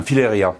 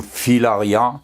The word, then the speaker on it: Filaria: aussi ça c'est un fileria le fileria c'est de la même famille que les oliviers fileria ou filaria les deux prononciations sont bonnes c'est un arbre que